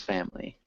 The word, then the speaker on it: family: artill artillery artillery and with family it's more like two syllables family uh family yeah my